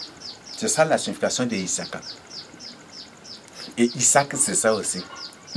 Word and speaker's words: Isaac: Ils ont écrit en phonétique et en français, ils lisent Isaac. Parce que en français, le S entre deux voyelles se prononce Z. Or, en phonétique, c'est S.